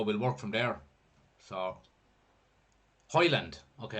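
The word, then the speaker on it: Højlund: work from there so hoyland okay Highland is how you pronounce it perfect Twigs is in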